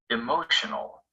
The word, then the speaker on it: emotional: before the shun celebration the stress stays on this syllable even if we add another ending after the shun emotion emotional the word shown in